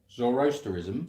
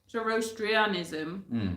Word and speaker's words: zoroastrianism: scholars believe zor zorro how do you say it zoroasterism oh yeah zoroastrianism zoroastrian yeah influence the belief systems